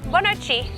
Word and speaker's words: Bonochi: Good morning is bon dia, good afternoon is bon tardi, and good night is bonochi.